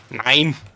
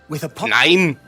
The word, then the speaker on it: nein: I just hate the overpronunciation by everyone who is not German. They always think we say nein.